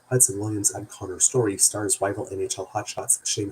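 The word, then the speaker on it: Connor Storrie: Hudson Williams and Conrad Story let me pronounce that correctly. Hudson Williams and Connor Story stars rival NHL hotshots Shane Hollander and Ilya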